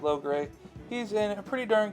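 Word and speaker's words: Logray: chicago toy show now we have a low gray or long gray i've heard it pronounced both ways always pronounced it low gray he's in a pretty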